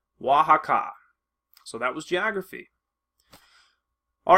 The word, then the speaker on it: Oaxaca: Lake Texcoco, Mayapan, and Oaxaca. That's Oaxaca. So it's spelled very differently, but it's again pronounced Oaxaca.